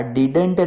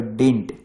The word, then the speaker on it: didn't: આ ડિડન્ટ ના બોલાય, આનો ઉચ્ચાર જરા અલગ છે, આને કહેવાય ડિન્ટ.